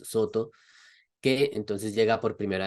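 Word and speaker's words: Sōtō: tjing era precisamente la escuela Soto pronunciado en japonés Soto que entonces llega por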